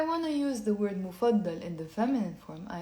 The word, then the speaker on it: مفضلة: Now, if I want to use the word مفضل in the feminine form, I have to say مفضل.